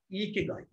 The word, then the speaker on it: Ikigai: So, but the right Japanese pronunciation of this is Ikigai.